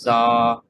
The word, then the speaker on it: Zahyen: Lions of z y mind you that it rhymes with saen so if I said it differently than that just just try to when you read it or when you repeat it it's Zen and that's why I